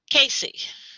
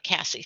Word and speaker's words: Casey: Casey, not Cassie.